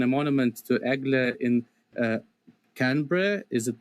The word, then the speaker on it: Canberra: It's it's Canberra. Oh, Canberra. Almost like with two syllables. Canberra.